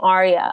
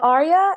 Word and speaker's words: Aarya: pronounce it I'm like it's just like the name Arya um so yeah that's